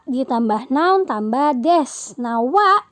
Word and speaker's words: は: Nah, wa di sini emang tulisannya ha, tapi cara bacanya wa.